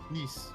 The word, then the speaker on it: Nice: Yeah, actually, how do you pronounce the name of the city? It looks like Nice. Nice.